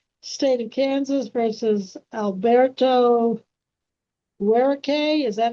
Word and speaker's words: Guerrero: We're on the record in BU 2026 TR 1039, State of Kansas versus Alberto Guerrero. Is that how that's pronounced?